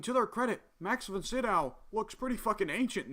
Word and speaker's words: Sydow: Max von Sydow is in it, which I just recently found out his last name is pronounced Sydow. I've been calling him Max von Sydow for years.